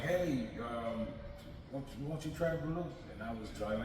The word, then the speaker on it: balut: And a friend of mine, he was like, "Hey, won't you try Balut?" And I was drunk. Like, come on, let me. It's pronounced balut.